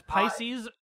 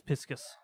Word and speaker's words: Pisces: Fey and Mina as Paces sess Paces yeah is that Pisces it's it's Pisces um unless you are Japanese in which case it's piscus that's true that's true